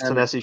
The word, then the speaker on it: Ta-Nehisi: Just Ta-Nehisi keep going.